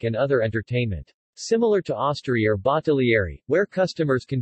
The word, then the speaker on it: osteria: An osteria, Italian pronunciation, Osteria, plural Osteri, in Italy was originally a place serving wine and simple food.